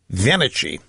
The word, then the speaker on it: Venici: This is Richard Venici, is the pronunciation.